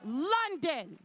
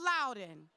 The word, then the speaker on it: London: correctly his name is london his name is london not loudon his name is london